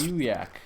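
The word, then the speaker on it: Aiyuk: How do you pronounce this? Ayuk.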